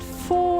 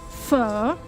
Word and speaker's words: pho: And yeah, if you don't know pho, you should really try it. And yeah, it's not pronounced po or po. It's not pho, it's not po, it is pho. So you ask it like a question.